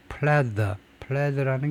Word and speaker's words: pleather: 이게 어떤 자재인지를 볼 텐데 pleather 이렇게 되어 있나요? 이거는 pleather고 pleather는 아니고 스펠링이 어떻게 되어 있냐면은 TH네요. sorry. 그래서 D가 아니고 인조 가죽을 leather, pleather 발음이 pleather네요.